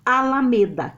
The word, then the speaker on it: Alameda: Alameda ou Alameda? É o me, né?